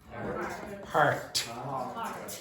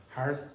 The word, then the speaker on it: heart: Heart. Okay, now if you listen to the way Patrine pronounced it, it was not a t at the end. It was like heart, heart.